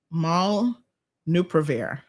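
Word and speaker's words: molnupiravir: malnup hold on now maul nuprovir i think is how it's pronounced uh so that's at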